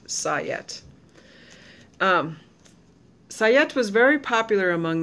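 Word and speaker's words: sajet: si je et and they say it's pronounced sigh yet sayat was very popular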